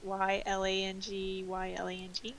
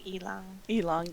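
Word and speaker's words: ylang-ylang: that I looked I looked up how to pronounced y l a n g y l a n g it's Elon elong elong elong yeah not y Lang y Lang oh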